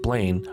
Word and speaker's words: Bellin: Allard Bellin, pronounced Blaine, Flagg, brother of Alice Flagg.